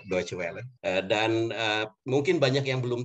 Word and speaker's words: Deutsche Welle: Kalau Deutsche Welle ya pelafalannya sudah banyak yang benar, tepat sekali. Kita bilangnya Deutsche Welle.